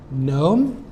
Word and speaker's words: gnome: Both of these have a silent letter K and G.